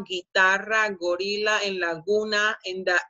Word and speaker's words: guitarra: So combination G-U-E, combination G-U-I, the U doesn't sound, and you pronounce it with a g sound.